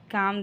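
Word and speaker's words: calm: हो जाओ you just काम down काम में एल साइलेंट है नेक्स्ट मैं उससे खुद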